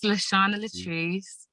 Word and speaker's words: Shana Latrice: Her name is Shana Latrice. Am I pronouncing it correctly? Yes, Shana Latrice.